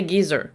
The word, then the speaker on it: geyser: Yes, I realized I was saying it wrong in part 1, as much as I try to say it the American way. We say geyser in South Africa, and I think in